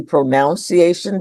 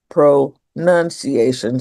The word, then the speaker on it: pronunciation: Rightation itself because I think it's logical that we would assume it would be pronunciation because it comes from pronounce but it actually is pronunciation spelled p r o n u in.